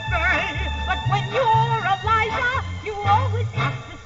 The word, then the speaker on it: Liza: It's Liza with Z, not Lisa with an S, because Lisa with an S goes snubs Z instead of S, lie instead of Z.